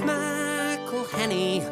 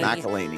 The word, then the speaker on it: McElhenney: It's McElhenney. While ways to massacre and mispronounce it, there are many. McElhenney. It's McElhenney. McElhenney. If there was doubt, now there won't be any.